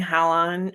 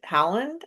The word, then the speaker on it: Haaland: Um, personally I was impressed by the the couple that Erling Holland Holland Howland I think is how you say it and his partner Isabelle Hogsing Johansson.